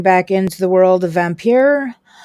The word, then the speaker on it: Vampyr: into the world of vampire at least that's how i'm pronouncing it it's probably pronounced vampire i just like the european e-sounding vampire we are going to